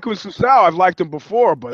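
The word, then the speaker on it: Assunção: How do you pronounce that last name? Is it Assuncao or Assuncao?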